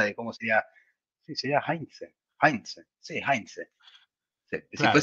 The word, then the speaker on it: Heinze: ¿Cómo se pronuncia el apellido de el gringo Heinze? sería Heinze. Bueno, él, un día le preguntaron y dijo que es Heinze. Yo Claro, dije, no bueno, nombra la H.